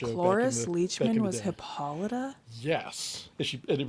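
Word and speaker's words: Hippolyta: It's pronounced Hippolida.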